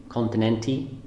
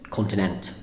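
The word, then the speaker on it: Continente: the local supermarket called I thought it was called continent a continent II but the e at the end is silent so it's just continent I'm still learning it's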